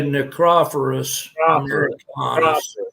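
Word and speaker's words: Nicrophorus americanus: I would say Necrophorus americanus. Yes, that's better.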